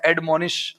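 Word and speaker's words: admonish: इसका उच्चारण जो है उच्चारण जो है एडममोनिश होता है।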